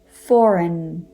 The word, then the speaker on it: foreign: for example design sign foreign the g is not pronounced it is silent next up is related